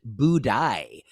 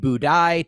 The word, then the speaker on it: Budai: this in China there was a monk named budai b-u-d-a-i it's spelled here with some accents over several of